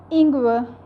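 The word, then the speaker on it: Ingwer: both languages next is Inga Inga if our is at the end of the German word then it will not be fully pronounced like Inga Inga Inga means ginger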